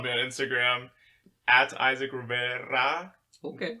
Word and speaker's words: Rivera: But yeah, I mean, you can follow me on Instagram at Isaac Rivera. Okay. So that's roll the R's as you type it.